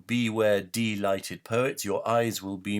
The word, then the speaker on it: delighted: the stark warning: beware, delighted poets. I pronounce it like that because that's what it means. We're talking about deprived of light, not delighted as in chocolate delight.